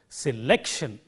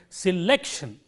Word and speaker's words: selection: other two syllables selection it is not sell if I say that I have made the first syllable stand out from the others which is a wrong pronunciation so we have to say selection and this is an